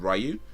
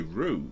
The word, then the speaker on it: Ryu: Like, the first time I ever saw it, I said Ryu. But then, I can't remember where it came along, but I think somebody was telling me, I've read it, or read somewhere that's actually pronounced Ryu. But, okay, Rue.